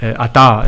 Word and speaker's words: Atta: Ata is how you pronounce it properly.